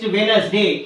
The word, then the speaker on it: Wednesday: is silent letter next Wednesday here w e d n e s d a d a y so here the letter D is silent next resign r e